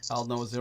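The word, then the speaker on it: Aldnoah.Zero: n o a h Al like the old Noah like the old Noah zero right Al no zero yeah zero yes and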